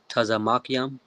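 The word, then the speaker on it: צמוקים: Tazamakium.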